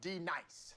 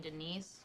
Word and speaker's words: D-Nice: Do you mean Denise? Son of a bitch. This is also what y'all You say your substitute name teachers right, like. Right now. Denise? Say it right. Denise. Correctly. Denise. Right. Denise. Right. D-Nice. That's better. Thank you.